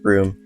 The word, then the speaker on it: Bruttenholm: He is found first by Professor Bruttenholm, pronounced Broom, in the BPRD, the Bureau of Paranormal Research and Defense.